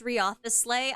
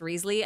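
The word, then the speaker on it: Wriothesley: you like uh okay yeah it's Risley I looked it up in fact I looked it up so thoroughly that I found four pronunciations for Risley and if if Joe says it's pronounced Ria the sleigh I'm going to throw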